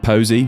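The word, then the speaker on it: Posi: These are the, I think you pronounce it Posy, P-O-S-I, strap locks, which are that diamond shape from the 70s models.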